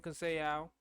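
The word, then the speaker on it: Conceição: against robson cassell uh i think i'm almost positive that's how you say his name uh i've heard people say his name different ways but i'm just saying say ow that seems like what it is um and it's not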